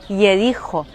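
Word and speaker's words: יריחו: Jericó em hebraico se pronuncia Yericho, e ela pode significar ou a cidade perfumada ou a cidade da lua, já que em hebraico Yarer significa lua.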